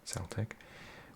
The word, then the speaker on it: Celtic: its own suggestion of the name Celtic pronounced Celtic was intended to reflect the